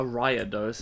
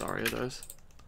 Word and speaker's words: Ariados: Okay, what are we doing with a Ariados, as you said yesterday? Is that wrong? It's Ariados.